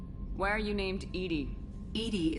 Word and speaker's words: EDI: are you named Edie Edie is the phonetic pronunciation of EDI that is an act